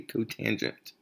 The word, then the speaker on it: cotangent: one is co t you do not say kotor cot you say cotangent because it's the cotangent okay just so you